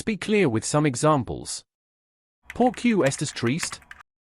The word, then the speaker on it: por qué: That is por Q. This word seems hard to pronounce. It sounds like por. Q, basically, it is a compound Spanish word which is made of two words.